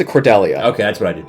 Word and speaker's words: Cordelia: pronounced it Cordelia.